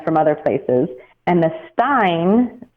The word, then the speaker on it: Rosenstein: Yeah, I think his is actually Stein. I remember looking that up. Yeah, his is a Stein.